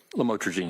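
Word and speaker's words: lamotrigine: about the u the lamel otherwise known as lamatraene. Did I pronounce that right? Lamotraine.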